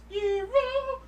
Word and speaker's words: Gyro: It's actually pronounced Hero, but I'm still Like- gonna like, call last him time I Gyro checked- 'cause it sounds cooler.